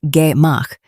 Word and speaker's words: gemach: A gemach, pronounced gemach, is a community lending fund on a principle almost too simple to believe.